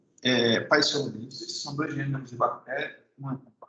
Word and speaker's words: Paecilomyces: Pocônia e Paecilomyces são dois gêneros de bactéria.